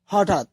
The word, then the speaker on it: হঠাৎ: যেমন হঠাৎ এর উচ্চারিত রূপ হঠাৎ। অর্থাৎ আমরা দেখতে পেলাম যে এখানে খণ্ড ত আর ত একই উচ্চারিত হচ্ছে।